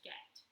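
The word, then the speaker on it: Göth: The commandant of the Poissouf camp was a German officer named Eamon Get, pronounced Get.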